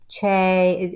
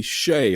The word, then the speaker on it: Chae: is fine but really the spelling pronounces it CH so it's it's Chay be all in all not necessarily Shay although you're okay with that but it's ch I am okay with